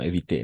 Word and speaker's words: éviter: de apostrophe et d'éviter non éviter sinon éviter r à final non se prononci d'éviter les embouteillages je